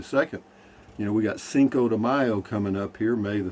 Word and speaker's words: Cinco de Mayo: for according to wikipedia cinco de mayo pronounced seco e mao in mexico spanish for 5th of may